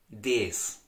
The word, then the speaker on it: das: Now, in the Austrian dialect, the article for the neutral nouns, das, is very widely pronounced as des.